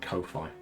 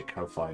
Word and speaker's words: Ko-fi: I kind of say it like Hi-Fi, which kind of dates me as a person. So I've always said Ko-Fi.